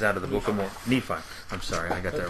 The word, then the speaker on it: Nephi: 10:18 this is out of the book of Nephi I'm sorry I got that wrong that's all uh Nephi let me pronounce that first Nephi 10:18 says for he